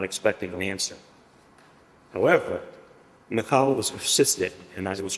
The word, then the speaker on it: Michal: During her time in Israel, she reclaimed Michael as her first name, but in more Israeli flair, she pronounced it Michal.